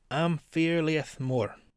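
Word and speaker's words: Am Fear Liath Mòr: Or, oh Jesus, as it's pronounced in Gaelic, Amphirliath Moor.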